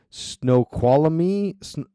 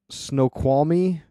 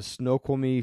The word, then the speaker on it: Snoqualmie: Geeks out there are gonna light me up for saying it wrong but I'm gonna say it anyway snow quality Snoqualmie Washington as well as